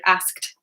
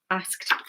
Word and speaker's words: asked: It's like skt, skt. It's very, very awkward. Even for like, native English speakers. I think it's like quite an awkward word asked, asked.